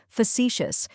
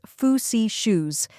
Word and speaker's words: facetious: Let's break it down. First we have foo, which sounds like the few in funny. Next is see, which sounds just like the word see. Then comes shoes, which rhymes with gracious.